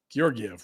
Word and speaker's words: Georgiev: Spelled with the S that fooled you. What is his name? Georgiev.